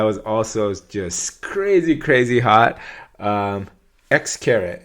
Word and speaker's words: Xcaret: X-caret. Is that how you say it? X-caret? X-caret. It's not X carat.